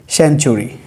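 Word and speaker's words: century: CN, সেন, TURY, চুরি, সেঞ্চুরি, শতাব্দী, যেটাকে আমরা বলি শতাব্দী। তাহলে শব্দের মাঝখানে টি রয়েছে, টি এর পরে ইউ আছে, যার কারণে টি এর উচ্চারণ এখানে চ হবে, ট করা যাবে না, সেঞ্চুরি।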